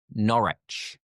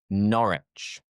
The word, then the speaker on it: Norwich: After that we have another one which is Norwich. Norwich. So once again we forget the W. Where you would think it might be pronounced as Norwich. You're right. It's Norwich. Norwich. And the third is what you might be thinking.